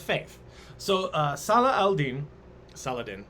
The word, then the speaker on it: Saladin: so uh salah aldine saladin is how we pronounce it okay in the westernizations